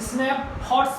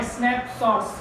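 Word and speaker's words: Snapshots: Hornbill और स्नैपशॉट, तो स्नैपशॉट को बच्चे पता क्या पढ़ते थे? स्नैप्स यहाँ पढ़ दिया, फिर हॉट, स्नैप हॉट्स पढ़ते थे, वो गलत है। सही प्रोनाउंसिएशन है इसका स्नैपशॉट्स, जो 11th में थी, ठीक है।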